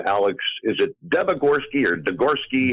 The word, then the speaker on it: Debogorski: Is it Debogorski or Degorski? Debogorski.